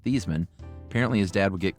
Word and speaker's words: Theismann: Growing up, his dad was very firm that their last name was pronounced Thiesman.